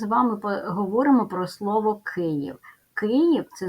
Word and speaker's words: Київ: склади Київ ставим наголос Київ позначаємо приголосні звуки перший звук к твердий Ми пам'ятаємо що буква ї завжди позначає два звуки Тому перед голосним звуком і ставимо м'який звук й і останній в приголосний